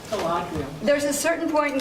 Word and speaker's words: Galadriel: By the way, Galadriel is how you say that. Galadriel.